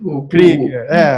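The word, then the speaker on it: Krüger: O professor Renan, Renan Faria, me desculpe aqui se eu errar na pronúncia, professor. Kruger, está correto? Do alemão Krieger. Krieger, que é o tremado aqui, Krieger.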